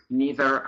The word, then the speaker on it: neither: that's the only advice otherwise you can pronounce both ways neither or neither it doesn't matter okay and Sandra will